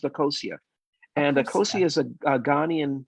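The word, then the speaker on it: Akosua: Tell us about the name and why Akasa. What? The name of your album. Actually, it's pronounced Akosia, and Akosia is a Ghanaian word.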